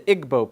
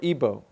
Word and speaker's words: Igbo: nigeria you have the igbo people or ebo pronounced either way there's 40 million of